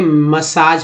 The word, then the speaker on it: massage: तो यहाँ देखिए MASSAGE, यहाँ पर इसे मसाज पढ़ते हैं, मसाज। तो पहला ए जो है आ के रूप में उच्चारण हुआ है, दूसरा ए जो है वो आ के रूप में हुआ, मसाज, है ना।